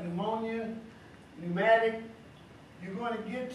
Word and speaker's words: pneumonia: me about this word pneumonia pneumatic tell everybody spell it okay not pH p PN good now I understand what's going on here the sound is entirely different than the word spells this is messing you